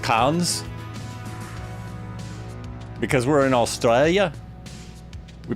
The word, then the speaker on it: Cairns: Pronounced cans. The R is silent. An Aussie thing. Carns is pronounced cons.